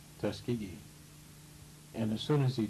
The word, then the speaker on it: Tuskegee: he referred to do it that way as Tuskegee the person who followed him pronounced it correctly Tuskegee and as soon as he did the first